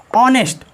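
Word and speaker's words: honesty: जहाँ पर H plus O एन हो वहाँ पर एच साइलेंट होता है। जैसे ऑनर, ऑनर मीन्स होता है सम्मान या इज्जत। ऑनेस्ट, ऑनेस्ट मीन्स होता है ईमानदार।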